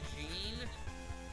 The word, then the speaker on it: Jean: is Jean valon it it's the French pronunciation Jean mate like a [